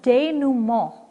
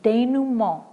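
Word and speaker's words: dénouement: french and it's pronounced de numer it's a french pronunciation de numer and that is the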